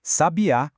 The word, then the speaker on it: sabiá: Sabiá com acento no último A é um pássaro.